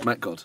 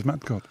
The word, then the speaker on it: Metgod: first of all, Holland is not exotic at all. And if you just see Metgod, It's Metgod. it's Metgod.